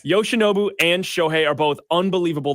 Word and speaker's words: Yoshinobu: And that's why, look, oh my gosh, Yoshidora. Gosh, I keep saying his name wrong. Right? Yoshinobu. Yes. Yoshinobu and Shohei are both unbelievable to watch.